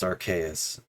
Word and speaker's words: Arceus: first pokemon just so you know it is pronounced archais okay if i'm just i by wiki definition